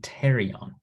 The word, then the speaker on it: pterion: Again, the P is silent. This is the pterion.